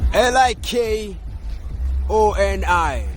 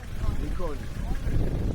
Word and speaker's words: Likoni: L I K O N I How do I actually pronounce that?